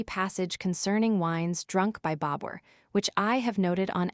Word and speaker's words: Bābur: supports the spelling Babur by making the second syllable rhyme to pur, as against the form Babar.